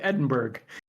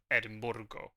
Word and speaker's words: Edinburgh: in Spain right because in Spanish it's Edinboro and then in Catalan Edinburg so every time I speak to people oh yeah Edinburg I'm like oh no no it's GH it's not gz yeah it's hard it's